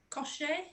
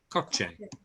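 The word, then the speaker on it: coche: uh amanda car is kosher yeah it's a it's not a sure it's a ch sound cochi yeah absolutely attractive carl what's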